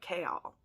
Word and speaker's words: Chaol: said that chaol's name it's like chaos but with an l so like k all just in case people